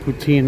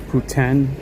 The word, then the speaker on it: poutine: We call it poutine. I know you guys call it uh uh you call it pouten or something like that pronunciation.